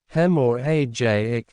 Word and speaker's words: hemorrhagic: Hemorrhagic, pronounced hem or ajic, strokes cause bleeding in or around your brain.